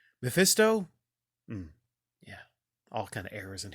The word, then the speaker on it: Mephisto: sell his soul to mepisto did I said it right oh Mephisto all kind of errors